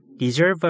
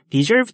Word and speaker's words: deserve: 발음 주의하시고요. deserve 아니고 deserve입니다. 뭐뭇을 받을 만하다라는 뜻인데요. 자격이 있다는 뜻도 되고요. deserve a rest 하면요. 쉴 자격이 있다라는 거고요. deserve to의 형태로도 되게 많이 써요.